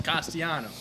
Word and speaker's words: Castellanos: So how do you pronounce his name? Sipping Dales over here. Nick Castellanos. It's Castellanos. Castellanos.